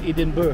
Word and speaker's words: Edinburgh: Alam ko na kung bakit ganon ang pronunciation nilang Eden BR dahil kasi dapat yan ang pronunciation is Eden Edenbur.